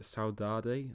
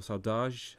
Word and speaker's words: saudade: There's no direct translation into English, but there's a Portuguese word, saudade, or saudage, I think, if I get my Portuguese pronunciation right.